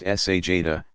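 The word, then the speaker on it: sajdah: stretching forward toward prostration sajna pronounced sa Jada to place hands flat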